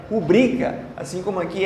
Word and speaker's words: rubrica: Como muita gente acha que é rúbrica, se fosse rúbrica seria uma proparoxítona e seria acentuado. Mas é rubrica, assim como aqui é pudico.